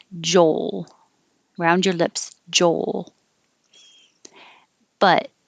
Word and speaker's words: Joel: joel but number 13 if you say joe you don't hear an l at the end there's no l at the end so when you're saying joel and you want to make clear that it's the name with an l hold your tongue in the l position a little longer to make the noise joel oh here your